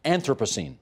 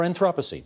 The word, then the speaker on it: Anthropocene: the director of photography Anthropocene or Anthropocene depending if you like European or American pronunciation thanks so much everybody